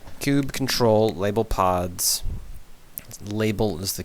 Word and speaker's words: kubectl: Okay, how to pronounce this? Cob control? Cube? It is cube. Cube control. Cube? Kubernetes? Oh, Kubernetes. Kube control. Kube control, label pods.